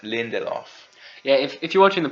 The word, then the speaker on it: Lindelof: and leftovers Damon Lydon deleted law I'm sorry Lindelof Lindelof yeah if you're watching